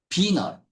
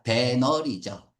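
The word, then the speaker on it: venal: 비널 비널 중요해요. 비널 어 돈으로 매수할 수 있는 뜻이야. 돈으로 매수할 수 있는 그래서 1번, 2번 타락한이란 뜻이죠. 타락한이 글자 원래 발음은 비인데 글자 그대로 읽으면 뭐야? 배널이죠.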